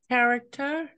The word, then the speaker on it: character: personality, and mood, and Character. yeah, characters. Okay, we say it like character. We don't say ch, we say k, character.